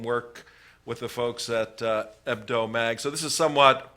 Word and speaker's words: Hebdo: The H is silent. Charlie Hebdo.